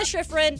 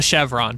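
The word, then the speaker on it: Shiffrin: I love Michaela Chevron. We It is not Chevron.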